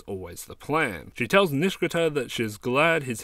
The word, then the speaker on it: Nishikata: I pronounce it the same way the characters in the sub do, with three syllables leaving out the I. However, in the dub, they pronounce it with the I, making it four syllables long.